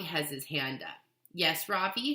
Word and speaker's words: Ravi: his hand up yes Ravi says mrs. beam I noticed she says his name correctly for the first time with the accent on the second syllable could you please tell